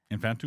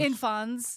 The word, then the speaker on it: infans: Infantus? Infans is Infans? yeah, like infant.